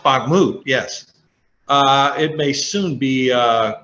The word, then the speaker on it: Bakhmut: On the battlefield, they are making waves that salt mining town, Bakhmut, let's see, it's pronounced Bakhmut, yes.